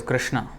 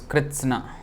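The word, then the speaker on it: कृत्स्न: Karmani Akarma Yah Pashyet Akarmani Cha Karma Yah Sah Buddhiman Manushyeshu Sah Yuktah Kritsna Karma Krit. So sometimes devotees pronounce this wrongly as Krishna. It is Kritsna.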